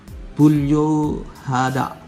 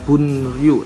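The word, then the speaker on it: 분류하다: Untuk yang pertama, kosakata yang pertama di sini ada bulyuhada. Bulyuhada. Bukan dibacanya bunryu tapi bulyuhada. Memisahkan atau mengelompokkan.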